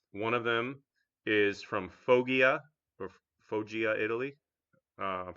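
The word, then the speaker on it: Foggia: to the Medieval Era and uh the correct pronunciation is fja it Italy and uh the part of China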